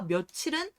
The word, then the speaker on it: 며칠: 봐도 몇 월 과 며칠은 다룬 게 있나요 아 이거 둘다 2 닭 실제 형태적인 거죠 그렇죠 그러니까 얘는 몇 일로 발음이 되어야 마땅한데 몇 일로 발음이 암 돼요 그리고 며칠 로 발음이 되요 따라서 이걸 어떻게 해석을